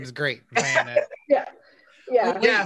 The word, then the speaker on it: Vanek: I've always said Vanek. Is that right? Yeah, pretty much. Not Vanek. Okay. No, not Vanek. No, just Vanek. Like almost one syllable. Vanek. Vanek, yeah. Like that fast.